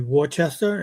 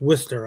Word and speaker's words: Worcester: But even like cities like if you look at it, you'd think it would be Worcester, and it's Worcester out there.